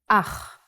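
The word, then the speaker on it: אח: Ach. The pronunciation is important. Try to pronounce it more glottally from your throat.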